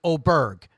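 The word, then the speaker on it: Åberg: he says it but but ludig told everybody because the pronunciations were just brutal he just said just call at me o Berg but but Daniel told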